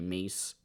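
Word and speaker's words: Meas: I thought they were really funny together, especially Mees. I think that's how her name is supposed to be said, but it's m e a s is how you say it, or spell it.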